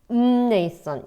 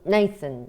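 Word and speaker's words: Mnason: the home of non 근데이 약간 묵은 발음이 그래서음 음네이슨 이런 느낌입니다. 음이슨 이렇게 됩니다.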